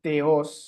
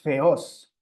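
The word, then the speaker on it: θεός: No debería ser teos, sino theos.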